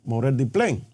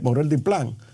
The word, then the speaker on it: Morel Diplán: Y en ese tenor es que se pronuncia el monseñor Morel Diplin. Eh, Morel Diplán, de que él ve una tendencia eh de